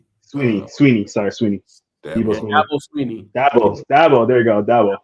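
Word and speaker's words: Dabo Swinney: Debo Swanee, I think I say his name right. I'll be messing up people's names. Sweeney. Sweeney. Sorry, Sweeney. Dabo Sweeney.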